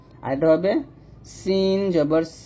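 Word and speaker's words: سين: এখানে সিন এবং সদের মাখরাজ যদিও এক, সিন পাতলা সদ মোটা।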